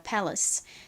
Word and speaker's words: palace: 그래서이 단어의 발음은 Palace입니다. Palace.